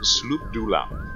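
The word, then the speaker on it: Sloobludop: And they came to the Kuatoa city, or town rather, of Sloop Dulam. It's the first time I've ever pronounced that correctly.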